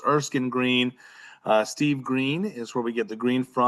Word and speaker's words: Erskine: So, um we always start off by by pronouncing our name because sometimes people will say Erskine and it's not Erskine.